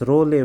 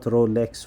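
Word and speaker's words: Rouleaux: We call this Rayleigh formation. The X is silent. Rayleigh formation. Okay, it's not Rolex formation.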